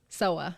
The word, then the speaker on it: Sowa: Sowa.